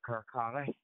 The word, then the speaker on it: Kirkcaldy: It's called, well, it's spelled Kirkcaldy, but the locals call it Kirkcaldy.